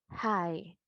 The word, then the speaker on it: high: que decía acá que la g y la H van a estar pero nosotros no vamos a hacer su sonido Entonces vamos a pronunciar Hi This to Hi eso